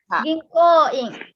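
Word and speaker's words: 銀行員: Ginko-ing. Yang ketiga, Ginko-ing. Ginko. Hai, Ginko-in. Ya, pokoknya sekarang ucapkan saja Ginko-in. Hai, Ginko. hai, Ginko-in. Ginko. Ginko-in. Ginko-in. Ginko, ko-nya panjang ya.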